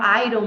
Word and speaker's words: iron: as pessoas acabam falando Iron Homem de Ferro Iron Man mas na verdade Homem de Ferro é